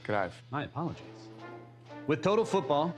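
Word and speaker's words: Johan Cruyff: The best player on that team and the godfather of total football was this guy, football legend Johan Kra. It's pronounced Krav.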